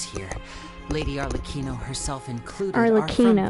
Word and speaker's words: Arlecchino: All of us house members here, Lady Arlecchino herself included, Arlecchino, that's how you say her name.